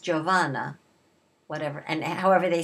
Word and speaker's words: Giovanna: Her first name is pronounced Giovanna, whatever, and however they say Seymour, I don't know, Seymoura, whatever.